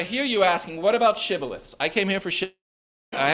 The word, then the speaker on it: shibboleth: stream or a Ford but the aphramites pronounced shibboleth shibboleth um or sibilith they pronounce it sibilith the ephraimites they didn't have the sh sound in the way that they pronounce things um so when the aphramites